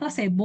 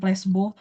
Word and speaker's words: placebo: itu placebo atau ee biasanya sih bacanya placebo ya, bukan plesbo.